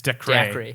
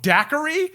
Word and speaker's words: Dacre: I hope that's not how you say that name. It's Dacre. Dacre. No, Daiquiri? Daiquiri. Dude, you're saying Daiquiri like Binks. 3 extra syllables. Daiquiri, It's dude. decry. No, dude, it's only 5 letters. It's not Daiquiri.